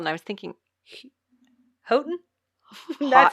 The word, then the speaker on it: Houghton: It's Houghton. I was guessing that's how it was spelled, and I was thinking Houghton.